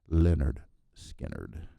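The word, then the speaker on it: Lynyrd Skynyrd: and it came with a handy pronunciation guide for a band name that seemed to trip up a few fans back then. Leonard Skinner.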